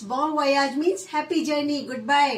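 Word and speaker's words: bon voyage: बॉन वोयाज again French expression है तो इसमें थोड़ा सा प्रोनाउंसिएशंस का फर्क होता है. सो इट्स बॉन वोयाज means happy journey, good bye, बाय bye, happy journey, बॉन वोयाज.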